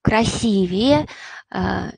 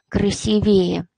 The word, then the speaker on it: красивее: в просторечных формы например красивее красивей красивый суп и приобретает уже такой несколько просторечной оттенок и в этом кстати прилагательным всегда ударение на второй слог красивее ни в коем случае не красивее это ошибочно будет ошибочным